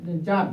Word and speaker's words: জার: তো জার, জার means রাজা, এটা উচ্চারণ করবে টি এস এ, জার, জার, মনে থাকবে?